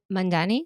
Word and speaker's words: Mandhane: But Justice Mandani, yes, that's how you say her name.